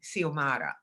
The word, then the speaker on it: Xiomara: So we know that X can be pronounced like the letter H, as in Javier, or like the letter S, as in Xiomara, right?